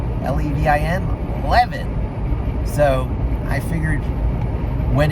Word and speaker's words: Levin: But when I moved from Philadelphia, where the pronunciation is the Israeli pronunciation, Levin, and I moved to New York, where it was very Americanized, Levin, L-E-V-I-N, Levin.